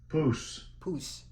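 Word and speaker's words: pous: Poos. All right. Poos. All right. So that's how Esau pronounces it.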